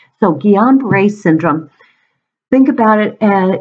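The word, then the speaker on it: Guillain-Barré: I'm pronouncing that correct it's French and so the L is silent so Jian brace syndrome think about it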